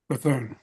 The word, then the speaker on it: Bethune: And Don's going to speak to us today about John, is it Bethune, Don? Am I pronouncing? Bethune.